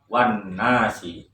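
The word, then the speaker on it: وَالنَّاسِ: Maka meskipun ada alif lam, tetapi cara membacanya langsung kepada huruf nun, wan nasi.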